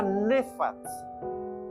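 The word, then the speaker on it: נפץ: Pero cuando vamos al término original, hay una palabra allí que se llama, se pronuncia nefats. Nefats. Se escribe N-A-P-H-A, acento en esa segunda A, T-S.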